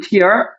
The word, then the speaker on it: tear: 이 사람이 tore라는 단어는 tear, T-E-A-R. 눈물이라는 단어랑 스펠은 똑같죠? 눈물은 tear. 그 다음에 동사로 쓰면 tear라고 읽는 거야.